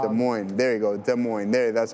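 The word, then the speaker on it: Des Moines: De Mo.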